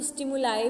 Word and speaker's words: stimuli: ठीक है, कुछ बच्चे इसको स्टिमुलाई भी बोलते हैं, पर स्टिमुली भी बोलते हैं, स्टिमुलाई उसमें गलत नहीं है, इसको स्टिमुली भी प्रोनाउंसिएशन कर सकते हैं, स्टिमुलाई भी कर सकते हैं।